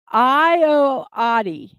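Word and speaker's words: Ayoade: Okay, I got the phonetic pronunciation. Ioade.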